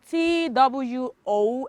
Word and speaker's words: two: okay for number three t w o and w of course is also the silent letter in two okay and for number